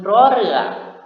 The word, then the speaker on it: ร เรือ: Huruf R dapat berupa konsonan awal atau ketika berada di awal suku kata dia dibaca dengan bunyi R, dan ejaan konsonan yang berbunyi N ketika dia diletakkan di akhir suku kata.